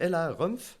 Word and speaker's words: Ella Rumpf: c'est Ouais, celui-là donc là, alors, je me suis dit, c'est Ella Rumpf, si je me gourre pas. C'est ça. C'est Ouais, ça. C'est ça, donc je prononce bien.